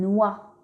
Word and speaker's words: noix: Et pour finir, X peut être muet en fin de mot comme dans une noix.